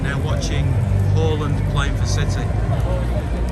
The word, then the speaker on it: Haaland: How do you pronounce his name then? What's the correct way of saying his name? Erling Braut Haaland.